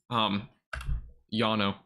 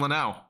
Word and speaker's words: Lanao: saying different things about the place that I'm currently calling, Yano. Pronunciation. Lanao. That's what it says. Lanao. It's actually Lanao.